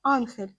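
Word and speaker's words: Angel: не було на карті прізвище льотчика іспанською мовою вимовляється як Анхель тому водоспад і дістав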